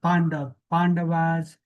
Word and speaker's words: Pandav: Like it's a Sanskrit word, and let it be spelled, let it be pronounced the way uh, it is pronounced in Sanskrit. So I stick with Pandav, all right?